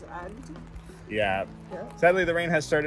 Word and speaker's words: Agde: We looked it up and apparently this is the pronunciation. French pronunciation is Agde.